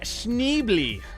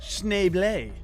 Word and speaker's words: Schneebly: Today we have Mr. Schneebly. It's actually pronounced Schneeble.